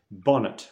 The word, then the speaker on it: bonnet: careful of the pronunciation Bonnet we don't pronounce it the same as in English as in French Bonnet we say okay so